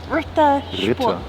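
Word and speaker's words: Ritter Sport: Rittersport.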